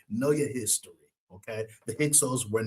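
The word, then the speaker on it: Hyksos: Those outside invaders were the Hixos or some people pronounce it the Hixos. H Y H Y Ksos, the Hixos.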